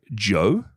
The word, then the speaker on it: DJO: I'm going to say Joe. Joe? How do you spell it?